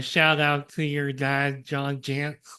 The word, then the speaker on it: Jantz: Well, also a shout out to your dad, John Jantz, which rhymes with pants, for creating duct tape marketing and for creating all of this.